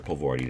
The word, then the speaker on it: Pavordi: or grade school um professor pavordi that's how you pronounce that uh apparently unspellable and unpronounceable agglomeration of letters that constitutes my name and uh what i